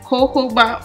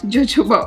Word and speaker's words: jojoba: Just want to let you know the fun fact about this oil is that it is actually pronounced as jojoba oil, not jojoba oil.